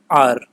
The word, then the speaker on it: our: ये ओ यू आर, इसका pronunciation होता है आर, तो हम इसको आवर नहीं बोलेंगे, क्या बोलेंगे? आर।